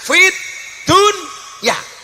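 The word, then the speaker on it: في الدنيا: rbana Atina Fid Dunya Fid Dunya itu sebenarnya bukan bacaan idhar tapi idgham harusnya bacanya Bagaimana fitun tapi ternyata oleh ulama Disuruh membaca secara zhar jelas Fid Dunya Kenapa urusan dunia harus dibaca Idah dibaca jelas karena urusan dunia harus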